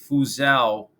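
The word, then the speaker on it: Fuzhou: Taiwan and the name of this port is fuzao and that's spelled f-u-z-h-o-u and apparently this port is the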